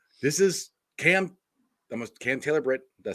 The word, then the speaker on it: Cam Taylor-Britt: But like I said, this is Cam Taylor-Britt.